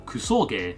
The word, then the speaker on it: kusoge: kusog or kusog as it's pronounced in Japanese translates to crap game.